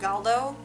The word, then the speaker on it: Galdo: previously they're twins i believe their names are pronounced calo and galdo otherwise known as the sansa twins um and